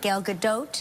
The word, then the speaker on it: Gal Gadot: And so Gal Gadot, right? Gal Gadot? Yeah. Is that, I'm pronouncing her name correctly?